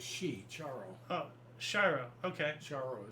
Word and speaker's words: Charo: Charo is how you pronounce it, I believe.